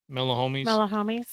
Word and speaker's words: Melahomies: It's like melanoma, but it's homies, Melahomies.